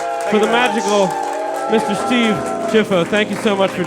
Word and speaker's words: Ciuffo: But no, at Ellis Island, it's Ciuffo, which is Ciuffo, like ciao. Oh, Cuiffo, right. Cuiffo, but- So it's not Cuiffo, it's Chiffo. That's how you spell it.